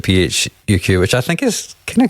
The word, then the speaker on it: PHUQ: right but Jinger himself pronounces it phuq which I think is